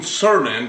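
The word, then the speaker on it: Cernan: a movie about man Co I I I mispronounced it's Jean cernon c c r n a n all right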